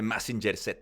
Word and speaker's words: Mazinger: is how you say i don't like how i pronounce mazinga in english because it sounds ill i like it more in spanish they say massinger and it's like damn yeah it sounds so much better like messenger and whenever my mom when